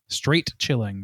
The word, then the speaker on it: Straight Chilling: Straight Chilling. That's a hard G. Not a soft G, it's a hard G. So you get the pun.